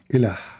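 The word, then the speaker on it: إله: Ilah is not what you write. That is trying to pronounce the word in the Latin letters. You say ilah. That's not really ilah. The word is as the following. Il. And the ah is a sound of like holiness, like music.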